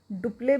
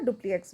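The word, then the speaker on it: Dupleix: Sense कि यहाँ पे इनका नाम जो है वो डुप्ले भी बोला जाता है, डुप्लिएक्स भी बोला जाता है, it depends on the pronunciation.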